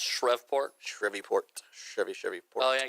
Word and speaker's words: Shreveport: It's pronounced Shreveport.